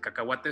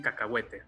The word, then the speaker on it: cacahuate: entonces usamos cacahuate el cacahuate es mexicano y la pronunciación correcta correcta es cacahuate aunque en españa le dicen cacahuetes no esté y no